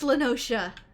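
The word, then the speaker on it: La Noscea: a hamlet Beyond South tide gate in Western lenosa half Stone it was called it is pronounced lenosa this is the first time I've heard him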